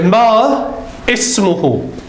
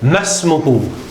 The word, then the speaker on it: ما اسمه: You say ma ismuhu. If you're going to stop there. If you're not going to stop, you're going to say masmuhu.